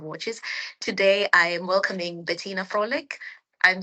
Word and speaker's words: Bettina Fröhlich: So my name is as as you told Betina Frolic and um yeah um I pronounce it in in English but my name um